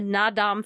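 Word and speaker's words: Naadam: can just look up the na dom festival and it's spelled n double a d a m festival there's great clips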